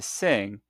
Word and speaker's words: sing: Now some learners pronounce this n and g leading to sing sounding like singer.